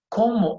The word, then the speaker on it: cómo: And again, you see that pointed accent there? It means there's going to be a stress on that letter there. There's going to be a stress on the O.